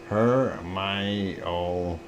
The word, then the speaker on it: Hermione: And Hermione is pronounced Hermione.